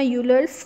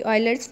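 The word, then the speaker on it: Euler: हम अपना यूलर्स formula करेंगे या रूल करेंगे। Leonard रूलर, sorry यूलर, pronounced ऑयलर, इसको ऑयलर प्रोनाउंस करते हैं, लियोनार्ड ऑयलर, अ स्विस मैथमेटिशियन।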